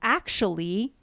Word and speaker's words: actually: So actually, 3 syllables there. Right.